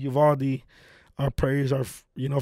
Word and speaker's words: Uvalde: Yuvaldi. Yuvaldi.